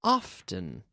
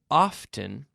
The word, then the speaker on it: often: Write to me more often. Más a menudo. More often. Now, with this word often, we can say often or often. Often, without the T pronounced, or often. Often, often. Either way is fine.